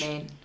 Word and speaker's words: Demesne: Domain, yeah, it is. That the spelling of that throws me off so much. Domain.